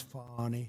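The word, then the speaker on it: Fani: She goes by the name of Fannie, even though it's F-A-N-I. She wants to pronounce Fannie, she's a little, little French.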